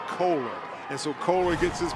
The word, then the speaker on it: Kohler: Talked to that young man's parents before the game, and they said it's pronounced Kohler.